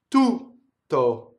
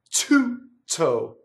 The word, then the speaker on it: tutto: Du, tu, tutto, not tutto.